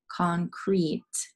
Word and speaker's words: concrete: And then the second, concrete. This second E is not making a sound.